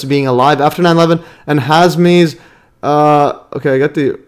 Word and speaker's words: Hazmi: Yes, it's Hazmi. It's not the other one. I got the name wrong right here.